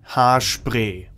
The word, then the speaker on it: Haarspray: It's das Haarspray. Or with a more German pronunciation, das Haarspray.